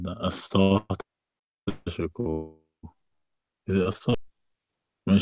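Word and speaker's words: Assata: Asata.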